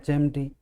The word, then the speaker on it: HMT: लेकिन अगर sound vowel की हो, जैसे इसको हम पढ़ेंगे ना शुरू में, तो एच आएगा तो ए आएगा इसमें, एन का प्रयोग हम इसमें करेंगे वावल साउंड होने की वजह से।